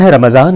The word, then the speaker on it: رمضان: یا چلا گیا۔ ماہ رمضان اسلامی کیلنڈر کا 9واں مہینہ ہے جس کا صحیح تلفظ رمضان ہے۔ اس کی ادائیگی کے